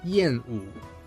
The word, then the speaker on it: Yàn Wǔ: native speaker who is able to not only pronounce his name, but to tell us what it actually means. His name is Yenu.